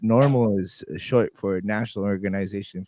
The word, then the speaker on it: NORML: Now, it's normal is short for National Organization for the Reform of Marijuana Laws. So it's spelled NORML.